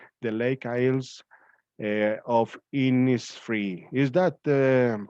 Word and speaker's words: Innisfree: this is it the lake isles uh of innisfree is that the pronunciation did i pronounce it correctly my dear